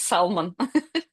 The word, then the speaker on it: salmon: Silent L or not silent? By my I understand that it is silent, but I cannot miss it. For me, it's salmon. And I struggle every time. I pause for a second, concentrate, and say salmon. Uh-huh.